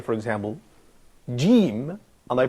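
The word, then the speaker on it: جيم: Okay, so I can say, for example, jim, and I pronounce it as j. Yeah. So the name of the letter in Arabic is jim, but it's not pronounced jim. The sound is j.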